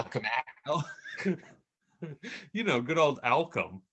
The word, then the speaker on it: Alchemax: And he's It sounded like you said Alchemex, like it rhymes with Malcolm X. Oh not yeah, Alchemax.